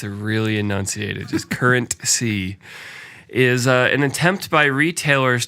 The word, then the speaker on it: CurrentC: right so let's we have to talk about current c which i'm like forever going to pronounce is two words with a pause in